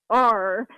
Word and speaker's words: Pelletier: So it's Pelletier, like a French pronunciation.